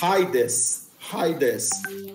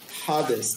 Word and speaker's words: Hades: Que você pode pronunciar Hades, ou Hades, mas você vai escrever normalmente com iota adscrito, do lado do alfa, que em português a gente chama de Hades.